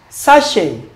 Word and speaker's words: sachet: Sachet. Sachet. He bought a sachet of water. Sachet. Lay. Crash. Crash. Bucket. Market. So the answer is lay. Option A. Sachet. It coincides with lay.